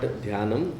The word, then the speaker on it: दान: That should have been dana mat. But when we stop at the eighth syllable, it is not danam. It is dana.